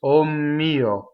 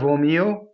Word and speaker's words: O mio: that means is um most one syllable words in Italian cause the next word the first letter of the next word to double okay and how that's done is very slightly uh between the o and the mio you hear this omo instead of omeo So there's just a